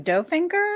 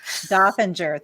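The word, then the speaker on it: Dolfinger: for having me sure how do you say your last name doe finger or no dolphinger thank you i knew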